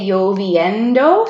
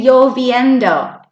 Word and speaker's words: lloviendo: And then those two L's, do you remember what sound the two L's make? Yeah. Lloviendo. Say, hoy hace lloviendo.